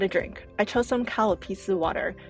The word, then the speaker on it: Calpis: The Kalapisu of water is very refreshing. It's an uncarbonated Japanese soft drink, and in Japanese it's pronounced Karupisu.